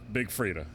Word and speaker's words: Big Freedia: Ladies and gentlemen, the Queen Diva, you best to believe, Big Freedia.